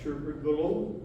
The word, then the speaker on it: tuberculosis: This is how Myrtle healed herself from tuberculosis.